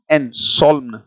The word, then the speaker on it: solemn: इसी के लिए एक शब्द आता है SOLEMN, सॉल्म, राइट।